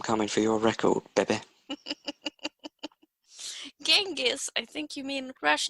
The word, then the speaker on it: Genghis: tangus jing is confucked jengus genghis khan it's a hard g this time can you make your